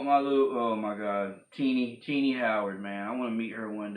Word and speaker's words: Tini: by Jeff D co-writer teeny Howard and I know other people try to figure out how to say her name Tina Tina is teeny I mean obviously ti ni teeny or tiny teeny so this issue here